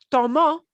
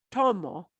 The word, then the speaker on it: tomó: Tomó, notice, not tomo, tomó, tomó.